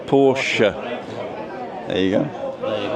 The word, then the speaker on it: Porsche: But in German, the E's pronounced. So Christina, right? Okay. And it's the same with Porsche. Porsche.